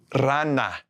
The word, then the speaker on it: rana: When a word starts with an R, when the R is the first letter of the word all by itself, like these words, it's going to be the trill, like a double R. Okay, we're going to pronounce it like the double R trill.